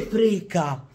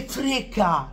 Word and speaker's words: frega: milanista non si dice non si dice freca che me ne frega non c'è la C qua qua la c non c'è è che me ne frega con la G con la G so